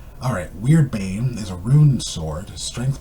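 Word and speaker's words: Wyrdbane: I mean, not Wordbane. Sorry, I know I call it Word, but it's actually pronounced Weird, and it sounds like Alright, Weirdbane is a rune sword,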